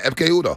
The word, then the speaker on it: Ekpe Udoh: Did I pronounce that right? Yeah, Ekpe Udoh.